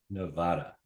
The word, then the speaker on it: Nevada: So you are in northern Nevada.